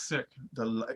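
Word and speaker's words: Sikh: It's sick.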